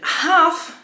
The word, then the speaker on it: Half: Half ma niemy L.